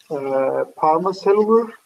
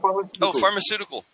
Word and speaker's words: pharmaceutical: make corporations or companies what's the pronunciation? Parma cellular. Am I saying wrong? Type it for me. Type it for me. Medicine industry. Shortly, in simple way. Pharmaceutical industry or no, pharmaceutical. Pharmaceutical. Oh, pharmaceutical. Yes.